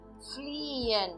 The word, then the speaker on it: fliehen: Fliehen. Fliehen. Fliehen. Que significa em português fugir. E aqui agora eu também não estou pronunciando nem o E e nem o H.